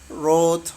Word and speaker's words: wrote: Itu dia kalau membaca seperti itu, menulis atau wrote, write itu nggak perlu w-nya diperjelas ya. Nah, dari R aja itu namanya silent hurufnya silent dibaca gitu. Nggak perlu dibaca. Silent W there.